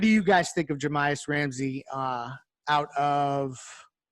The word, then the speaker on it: Jahmi'us Ramsey: But then I read up about his approach to the game and his Jahmi'us Ramsey, I believe is how you pronounce his name, from Texas Tech.